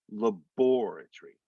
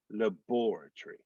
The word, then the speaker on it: laboratory: in the second syllable if it was like an english laboratory where it's either the first or possibly the third then you could probably say laboratory but in britain the accent's on the second syllable so that's why it's more like laboratory labor tree that and that's why